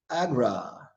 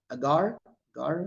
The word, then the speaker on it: agar agar: boring okay how about Agra Agra Agra agar agar is how you pronounce it AAR okay good all right